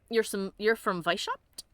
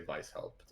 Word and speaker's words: Weishaupt: Well, since it's clearly German, I will say it with the hard V, soft trailing W.